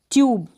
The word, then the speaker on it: tube: तो यहाँ पर भी हम इस यू को क्या पढ़ेंगे, अब यहाँ पर इस यू को यू पढ़ा जा रहा है, जैसे इस स्पेलिंग में दे रखा है, ट्यूब पढ़ रहे हैं, ट्यूब। ट्यूब का मतलब नली, TUBE, ट्यूब, नली। ये जो एंड में जो ई है इसको तो पढ़ ही नहीं रहे।